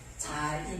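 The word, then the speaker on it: זַיִן: 그러니까 영어로서는 발음을 Z 발음이 난다고 이렇게 자인 이렇게 되죠.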